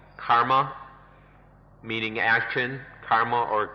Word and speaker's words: karma: if we we understand karma kama karma is the sanskrit pronunciation comma the pali pronunciation if we see that